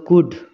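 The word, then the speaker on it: could: silent letter silent letter যেমন কুড সি ও ইউ এল ডি এল ডি কুড তো এই এল এর উত্তর কিন্তু এখানে হচ্ছে না তো এই এল টাকেও আমরা বলবো সাইলেন্ট লেটার তাহলে সাইলেন্ট লেটার কি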